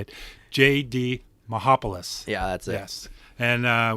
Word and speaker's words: Mihopulos: JD Mihopulos.